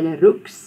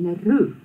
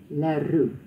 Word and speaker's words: Leroux: So you'll notice that we pronounce it the way the French do. We don't say du Toit, we don't say Leroux. We say du Toit and Leroux, because that's the French way of pronouncing it.